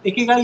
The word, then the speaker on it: ikigai: तो जापान वालों ने एक हैप्पीनेस के लिए एक टर्म दिया है, दैट इज इकिगाई। इकिगाई यानी इसको प्रोनाउंस किया जाता है इकेगाई करके।